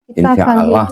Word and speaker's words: insya Allah: Insya Allah tulisannya. Di situ nggak ada tasdidnya, jadi bacanya insya Allah gitu.